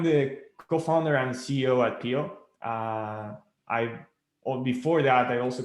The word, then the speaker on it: Piio: here today with nico bistolfi the ceo of pio that's spelled p-i-i-o good morning nico how you doing